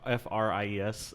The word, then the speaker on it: Fries: freeze yeah it is freeze it's yeah it's spelled f-r-i-e-s and they sometimes pronounce it as fries but they also like it's supposed to be freezing um but like even